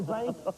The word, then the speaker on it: zinc: Et j'aimerais répéter que c'est le mot zinc, mais qu'on prononce zinc.